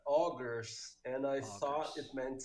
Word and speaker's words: Augurs: you say that yeah it was supposed to be augers and I thought it